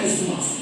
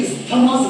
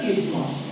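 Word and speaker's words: isthmus: যদিও এর বানানটা আই এস টি এইচ এম ইউ এস। আমরা কিন্তু এটাকে ইসথামাস বলবো না। আমরা এটাকে কি বলবো? ইসমাস বলবো। যেমন দেখবেন এজমা। এজমা যদি বানান করো এস টি এইচ এন আমরা কি এসথামা বলি? যারা বলি তাহলে ভুল প্রোনাউন্স করি। একচুয়াল প্রোনাউন্সিয়েশন কিন্তু এসথামা না। ওর প্রোনাউন্সিয়েশন হচ্ছে এজমা। ঠিক আছে? This is নট ইসথমাস। This is ইসমাস।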